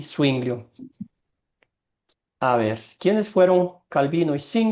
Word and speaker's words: Zwinglio: Úricos, no sé pronunciar este nombre, pero lo voy a letrear. Z-W-I-N-G-L-I-O. Windows, ¿no será?